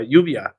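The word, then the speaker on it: lluvia: called yeah how do you say rain rain yuvia yeah yuvia mhm UIA that's right and it's gonna be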